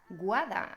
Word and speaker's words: Guada: de los diptongos bueno a algunos de mis estudiantes les cuesta mucho pronunciar mi nombre guardan sobre todo a los estudiantes de habla inglesa y por qué pues porque no están acostumbrados a pronunciar dos vocales seguidas entonces esto puede resultarte